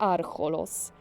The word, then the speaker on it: Archolos: w sposobie akcentowania wyrazów mieszkańcy wschodniego archipelagu wypowiadając nazwy własne często podkreślają pierwszą sylabę w słowie archolos Akcent padający na sylabę